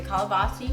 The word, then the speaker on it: calabaza: So Okay, we're going to start with the calabaza squash and tomatillos.